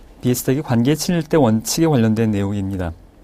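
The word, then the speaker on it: Biestek: 이것은 비에스텍이라는 학자, 바이스텍 이렇게 발음하기도 하는데요. 비에스텍이 관계 친일대 원칙에 관련된 내용입니다.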